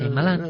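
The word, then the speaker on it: Shyamalan: Y curioso, ¿queréis escuchar a cómo se pronuncia? Shamalan el director. Shaimal. Señor Shaimalán.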